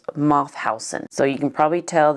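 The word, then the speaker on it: Mauthausen: another including ashoz and I believe it's pronounced moth Housen so you can probably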